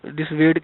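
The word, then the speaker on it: dissuade: Writing जो है इसकी, लिखने का जो स्पेलिंग है वो कुछ और है, लेकिन प्रोनाउंसिएशन में ये कुछ और है।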